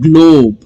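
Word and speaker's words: globe: स्ल ओप स्लोप okay अगला जो वर्ड है वो है ग्लोब जी एल गल ओ long Wavell sound O बी ग्लोब ई ये जो लेटर है ये साइलेंट रहेगा ओके सो रोप होप स्लोप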